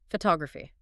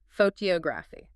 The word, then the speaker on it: photography: Photography. Oh, right. 4 syllables. Photography. The stress completely shifts to the second syllable.